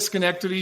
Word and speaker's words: Schenectady: You nailed it, Schenectady. You pronounced that properly.